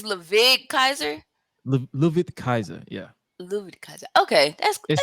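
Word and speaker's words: Ludwig Kaiser: on air is it leig it's laig Kaiser louid Kaiser yeah louid Kaiser okay that's like it spelled like Lil wig like like lwig or something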